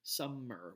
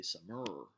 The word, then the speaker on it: summer: The first syllable is the one that's stressed, right? We say summer, we don't say summer, right? And so therefore, the sum is stressed, the mer is unstressed.